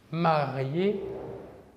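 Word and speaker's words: mariée: Un exemple, marié au masculin, marié au féminin. La même prononciation car le E, marque du féminin, est muet.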